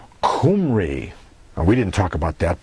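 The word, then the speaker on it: Khumri: and so forth that the Israelites were called kumry we didn't talk about that but that's earlier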